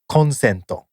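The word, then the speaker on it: コンセント: It's pronounced consento, which means an electrical outlet where you plug in your stuff.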